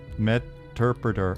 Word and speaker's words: Meterpreter: It's like interpreter but with meter. Meterpreter.